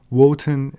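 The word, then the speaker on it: Wotan: lower social classes wotenism woten is the german pronunciation of odin list claimed that the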